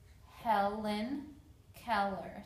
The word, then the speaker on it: Helen Keller: For the name Helen Keller, there's her picture right there. I broke it into syllables. There are four vowels. They all make a sound, so it's Helen Keller.